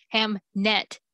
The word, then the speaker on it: Hamnet: the one was named hamnet all of us were like no you mean hamlet and that's why he wrote the play and she's like no no no no ham net with an n and for like no